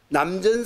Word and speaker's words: 남전: 요걸 똑같이 또 마곡 스님은 마곡 우도 남천이라고 읽지 말고 남전이라고 읽으라고 그랬죠. 마곡 스님은 또 남전 스님인데 이르러서 요 선상